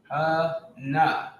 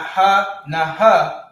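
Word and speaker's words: הנה: All right, and it's pronounced ha-na, not ha-na-ha, but ha-na. The na and the ha are connected. So this is how you would pronounce it. Ha-na. The A at the end of ha gets dropped off because the na and the ha are connected, making it ha-na.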